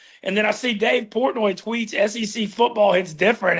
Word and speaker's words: Portnoy: So Dave Portnoy, right?